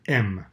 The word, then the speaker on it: em: des valeurs de dimension c'est le m on dit comme la lettre m c'est pas grave ça